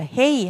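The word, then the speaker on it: הא: 자, 헤이 할 때 해 발음. 그래서 H 발음. 해, 히읗 발음으로 기억하시면 되고요.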